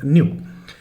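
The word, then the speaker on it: nu: Okay, it's नॉट नू, the word is न्यू।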